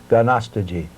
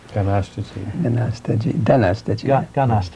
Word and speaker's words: Ganastaji: Some of our people still get that name, and they pronounce it in Mohawk, Ganastaji. Ganastaji. Ganastaji, I say.